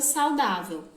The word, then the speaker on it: saudável: Vamos separar no pensamento a palavra saudável. Saudável. Nós pronunciamos em 3 partes.